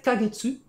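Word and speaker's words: ヶ月: a un petit k en 4 en fait kagetsu c'est une durée de mois c'est un petit kekatakana mais ça se prononce k de base c'est un kanji mais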